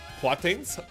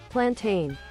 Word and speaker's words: plantain: He only eats one to two then rest are platins. How do you pronounce that? Platins. Platinum. What's the difference between platin and a banana? Pronunciation? Plantain.